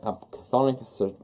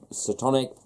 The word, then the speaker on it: Chthonic: Chthonic, Satonic, whichever you want to pronounce it as.